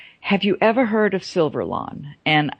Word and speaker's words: Silverlon: And he said, have you ever heard of Silverlon? And it's spelled like the word silver with L-O-N at the end.